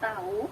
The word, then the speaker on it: tahu: Dan kadang-kadang bunyi H itu tidak diucapkan. Seperti pada kata lihat, tahu, jahit. Apakah kamu tahu? Nah, tahu itu tidak ada H-nya.